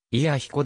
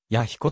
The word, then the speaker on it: 彌彦: 本庁の別表神社正式にはいや彦だが神体山とする弥彦山など関連する二名がすべて弥彦と読む関係で一般には弥彦とも呼ばれる越後平野西部